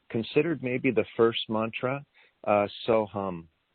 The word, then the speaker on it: Soham: And it's the mantra considered maybe the first mantra, Soham. And that's pronounced so and then like humming a song, hum.